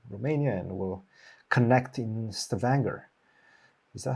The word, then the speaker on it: Stavanger: I'm going there from Romania, and we'll connect in Stavanger. Is that how you pronounce?